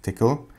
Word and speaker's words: Tcl: It's spelled TCL, by the way, but pronounced tickle.